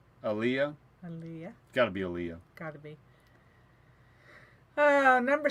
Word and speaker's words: Aaliyah: We'll spell it. A-A-L-I-A. Liyaah. Aaliyah. Aaliyah. Aaliyah. Got to be Aaliyah.